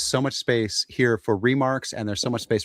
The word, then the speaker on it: remarque: So remark is spelled REMARQUE.